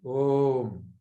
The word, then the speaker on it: Om: Om is made up of A, U and And these are the three audible sounds, audible syllables, something that you can hear. Om. So when you say that, it becomes Om, isn't it?